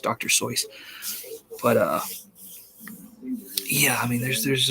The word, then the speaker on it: Seuss: That's the actual way to pronounce it. Like Dr. Seuss, people think Dr. Seuss, but it's Dr. Seuss. He wrote a poem about it. It's pronounced Dr. Seuss.